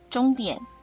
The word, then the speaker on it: 鐘點: 点，终点，终，声调第一声，终，声调第一声，点，声调第三声，点，声